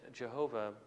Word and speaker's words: Jehovah: Yahweh is, again, is one way. It's Jehovah is another way that it's believed that that particular name might be pronounced.